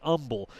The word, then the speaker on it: Humble: for Terrence Gibson as we mentioned he's from Umble Texas it looks like humble but if you ask the folks down there how do you pronounce your Town's name they will say Umble with a silent age so just a little